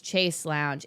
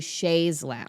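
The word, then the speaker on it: chaise lounge: I already held myself accountable on the Patreon, but last week I corrected Millie's pronunciation of Chasse Lounge, and I said it was Chase Lounge. It's actually Shays Lounge.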